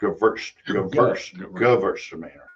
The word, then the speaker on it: Gewürztraminer: Gewürztraminer. Okay. It's G-U-W, but they pronounce it Gewürz, Because it's Gewürztraminer. German, not English.